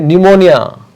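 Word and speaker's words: pneumonia: SIDO P silent है. न्यूमोनिया and raspberry.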